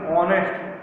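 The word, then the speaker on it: honest: पे कैसे एन लगा, क्योंकि इसका जो प्रोनाउंसिएशन ऑनेस्ट, एच यहाँ पे साइलेंट, हम यहाँ से इसको स्पेल कर रहे हैं, प्रोनाउंस कर रहे हैं ऑनेस्ट, तो ये हो जाएगा बच्चों एन।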